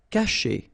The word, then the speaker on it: cacher: Cacher. Okay, so remember, when you combine this C and A, you get the sound K, okay?